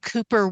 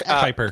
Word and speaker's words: Kuiper: Uh silent U.